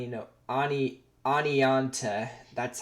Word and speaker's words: Oneonta: through awning on well through one onto through Arnie you know Ani Oneonta that's how you say it I there's no